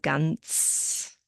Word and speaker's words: ganz: We have the Z sound at the end, ganz.